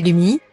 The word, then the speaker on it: Lumi: fille par césarienne voici lumi prononcez Lomi qui veut dire neige